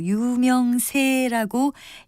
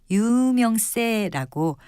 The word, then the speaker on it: 유명세: 그리고 유명세라고 예사소리로 발음하는 것을 많이 들을 수 있지만 유명세라고 된소리로 발음하는 것이 맞습니다.